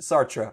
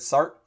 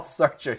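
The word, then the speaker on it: Sartre: this up afterwards and it might be pronounced sarra I'm not sure my philosophy My Philosophy Professor always said sart but it's definitely not sha Paul SRA he was French sha Paul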